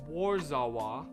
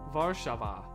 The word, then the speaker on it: Warszawa: It's spelled what I would pronounce as Warzawa, but apparently it is pronounced Warszawa, which is the capital of Poland.